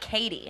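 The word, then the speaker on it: Cady: movie she played what caddy Haron Katie Katie it's pronounced like Katie thank you this is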